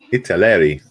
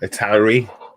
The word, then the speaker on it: Italeri: the brand name yeah how do you pronounce that italy it's a larry yeah yeah i've heard people saying um a towery um and it's a